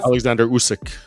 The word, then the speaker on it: Oleksandr Usyk: Oleksandr Usyk.